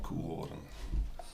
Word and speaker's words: Koehoorn: But in Dutch, it's pronounced Koehoorn.